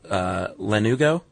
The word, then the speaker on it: lanugo: What you have in the womb are little tiny hairs called lanugo. That's how I pronounced it, too.